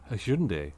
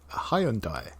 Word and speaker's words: Hyundai: be in a focus he'll be back in Hundai Hundai Hundai Hyundai yes that's the the way I always pronounce it still pronounce it now but it's